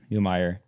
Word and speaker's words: Neumeier: How do you pronounce it? Neumeier.